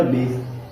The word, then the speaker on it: base: और हमने बोला कि लास्ट में अगर हमारा कोई ई लेटर आएगा, ठीक है, ई का प्रोनाउंसिएशन नहीं करते, ई हमारा क्या होता है, साइलेंट होता है, ठीक। अब ए अपनी मात्रा क्या देगा, ब को देगा, तो क्या जाएगा, बे, और इस मीन्स क्या जाएगा, बेस।